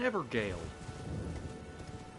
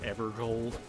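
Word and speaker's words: Evergaol: the side of grace it's an evergale hey thank you so much somebody pronounced it evergold like yeah sure okay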